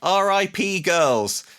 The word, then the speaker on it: Rip Girls: We're talking about Rip Girls or if you prefer RIP girls. RIP girls. I think that's the preferred Yeah. the preferred pronunciation.